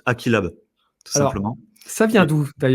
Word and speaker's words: AqeeLab: Je te reprends juste sur la prononciation. C'est pas grave. Ouais, dis-moi. Mais en fait, c'est normal parce que le nom, j'avoue, il est un peu tordu. Donc, c'est juste Aquilab, tout Alors, simplement.